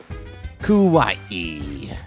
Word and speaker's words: kawaii: Kawaii. Gotta remember the last syllable, because otherwise it means scary.